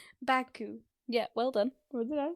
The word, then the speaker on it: Baku: It's only two syllables. Baku. Yeah.